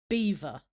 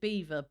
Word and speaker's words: Belvoir: It is it It is spelled b e l v o i r, Belvoir, but it's it's pronounced, as far as I'm I'm aware, Beaver.